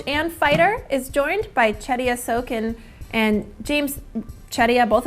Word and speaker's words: Charkira: Okay, this is Charkira Sokun.